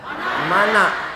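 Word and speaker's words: Manna: mana Saya bertanya karena saya tengok tulisannya mana tapi cara bacanya Man mana Ah ini jadi macam-macam bahasa Inggris juga dia on dibaca Wan Mana tulisannya tapi dibaca mana mana mudah-mudahan bapak ibu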